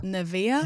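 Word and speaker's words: Nevaeh: e a Neev nevea mais en anglais c'est clairement nevea na Nivea Nivea peu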